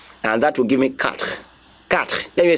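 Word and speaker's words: quatre: like that and that will give me example pronunciation I want there and that will give me cut cut let me say cut so that you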